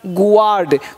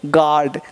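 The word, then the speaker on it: guard: अब silent you कहाँ रहता है, अब देखो यहाँ पे लिखा है जी यू ए आर डी, गुआर्ड, गुआर्ड नहीं पढ़ेंगे गार्ड, देख रहा हो यू चुप हो गया तो पढ़ दिया गार्ड, जी ए आर डी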